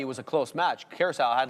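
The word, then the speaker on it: Curaçao: How do you pronounce the word? Curacao.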